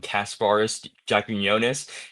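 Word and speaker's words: Kasparas Jakučionis: for getting the steal of the draft and Kasparis Jaquinionis. That's how you pronounce his name.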